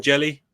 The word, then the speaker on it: Hjelle: Like, anyway, whatever his last name is, Jelly. Apparently, that's how you pronounce it.